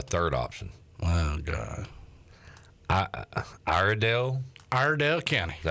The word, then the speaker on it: Iredell: Iredell County.